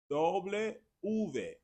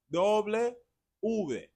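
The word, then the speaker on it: doble ve: So remember now, W is like two V's together, which is why Spanish speakers say doble V, doble, doble V, doble V. The letter W is also pronounced ube doble or doble U.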